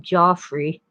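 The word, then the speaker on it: Geoffrey: in middle english by jeffrey chaucer i suppose the british would call him joffrey like the joffrey ballet between 1387 and 1400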